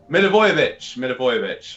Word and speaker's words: Milivojevic: Milivojevic.